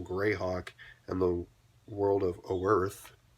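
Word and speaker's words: Oerth: He was imprisoned under Castle Greyhawk in the world of Earth. It literally is spelled O Earth, but no A, and the O is in the very front of Earth.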